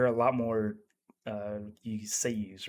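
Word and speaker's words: seiyū: Um, the the one point I want to bring up too is like there are a lot more you seiyus, right?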